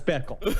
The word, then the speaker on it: Bickle: It's that name that rhymes with pickle. It's Travis Bickle.